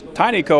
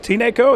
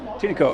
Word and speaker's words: Tineco: Today we're looking at something that I always pronounce Tineco, and I found out a little bit earlier that I was wrong about that, so it is pronounced Tineco, is that correct? Tineco. Tineco, okay.